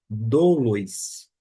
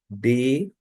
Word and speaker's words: δοῦλοι: A gente não pronuncia doulos ou doloi, neste caso aqui, e sim D-U-L-O-I, duloi, tá bom?